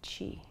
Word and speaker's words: Qi: it I'm cultivating chi chi is spelled Qi but it sounds like CH Chi is essential vital